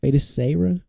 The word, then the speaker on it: Feiticeira: Feiticeira.